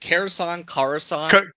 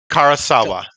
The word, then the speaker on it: Karasawa: Or how do you say it? Karasan? Karasawa. Karasawa? So like Karasawa.